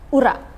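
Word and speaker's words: ура: pronounce it uh well uh in the right pronunciation I mean Ur Ura Ura okay good morning your Excellency thank you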